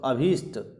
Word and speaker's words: अभीष्ट: इच्छित अभीष्ट अब देखो यहां पर भी त है अभी धन ईष्ट तो अभीष्ट ठ नहीं आएगा मनोवांछित मनीषी के पर्यायवाची